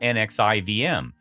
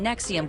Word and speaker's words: NXIVM: It all started with this sketchy self-help group called NXIVM, pronounced like some bad pharmaceutical drug.